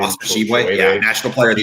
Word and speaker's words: Tshiebwe: Schwebe, how do you say his name? Oscar Tshiebwe, yeah, National Player of the Year last year.